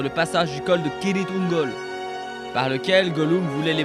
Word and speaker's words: Cirith Ungol: passage du col de Kirith Ungol, par lequel Gollum voulait les mener. Et faites attention, ça se prononce Kirith Ungol et pas Cirith Ungol, comme le dit Faramir dans le film.